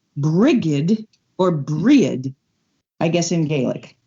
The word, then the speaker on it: Brigid: and i am told that say calling her bridget is incorrect she's also on on the first of february the very first day her name is actually pronounced brigid or i guess in gaelic but i can't